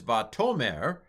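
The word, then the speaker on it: וַתֹּאמֶר: So like this one is vatomer, and the accent is on the toe here.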